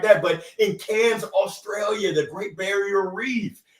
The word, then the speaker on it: Cairns: Global Speaker Summit in Cairns. Rob, I hope I pronounced that right. It's not Cairns. They'll take off our hands if we say it like that. But in Cairns, Australia, the Great Barrier Reef.